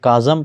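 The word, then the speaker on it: chasm: खुसूसियत या एक फीचर काजम यह काजम प्रोनाउंस किया जाएगा खाली जगह या स्पेस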